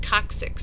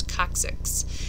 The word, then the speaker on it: coccyx: which we call the coccyx so it's pronounced coccyx so it's a hard C followed by a soft C so it's coccyx it's the tailbone sometimes